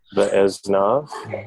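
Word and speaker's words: וְאָזְנָיו: Ve'aznav. Ve'aznav. The O's, that's right. Yeah. That's the hardest thing, I think, in Hebrew is to, on the fly, get the comments good tone correct.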